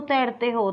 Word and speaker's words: तरतः: का प्रयोग होगा, तरतहा, हा का उच्चारण होगा, हा का ध्वनि आएगी, क्योंकि विसर्ग जो है वह हा की ध्वनि आती है विसर्ग में, तरतहा।